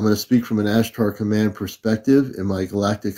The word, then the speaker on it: Ashtar: just said and it's actually Azar command not azgard uh it's Azar Lee it's as h t r command Azar as h t a r if you're having trouble pronuncia it it's ashtar